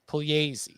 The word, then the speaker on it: Pugliese: on the pronunciation Of Puglisi? Pugliese. Oh God, The E makes an A noise. It's just like Spanish.